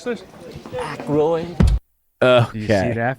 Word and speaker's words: Aykroyd: Chevy Chase, Gilda Radner, Dan Ike, how the fuck do you pronounce this? Aykroyd.